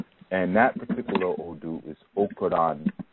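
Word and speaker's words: Okanran: And that particular Odu is Okoran Meji. Okoran Meji. Okoran is O-K-A-N-R-A-N. Okay, Meji is spelled M-E-J-I.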